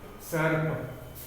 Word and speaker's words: सर्प: तो दर्पण, अर्पित, अ के बाद में हमने र का उच्चारण किया, फिर पी का उच्चारण किया, फिर त का। उसी तरह सर्प, सर्प का अर्थ है सांप, तो सर्प का हम उच्चारण इसी तरह करेंगे।